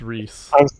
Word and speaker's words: Rhys: fans i don't know yeah he's welsh it's rhys okay i would know